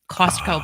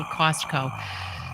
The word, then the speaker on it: Costco: I say Costco because I say it like in two words but it's really one it's Costco but I can't say I say Costco so it's going into